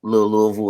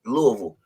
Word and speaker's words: Louisville: They try to say it like St. Louis.